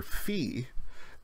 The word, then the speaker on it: phi: the circle not horizontally the sound of V is like F in fish or finger or like the pH philosophy and actually the pH